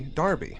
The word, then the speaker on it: Derby: Now, I'm pronouncing it Derby because that's how I would have pronounced it. I know, but in the UK, they pronounce Derby Darby.